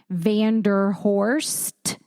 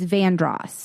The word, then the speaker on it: Vanderhorst: So like it's spelled like if you were to see the street, it would be you would think it was pronounced Vanderhorst. But if you were local to the area, it's Vandross.